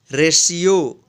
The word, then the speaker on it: RATIO: RATIO, रेशियो। रेशियो means होता है अनुपात। यहाँ पे देखिए टी के जस्ट बाद क्या आया है, IO आया है, इसलिए इस टी का श उच्चारण हुआ है।